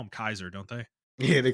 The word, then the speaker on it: Caesar: happened what direction they decide to go like Caesar or or actually they call him Kaiser don't they yeah they call him Kaiser they